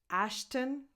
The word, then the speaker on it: Ashton: Ashton. Just go from the T to the N because there's just a small schwa in between, but it will just come out naturally without you having to do anything.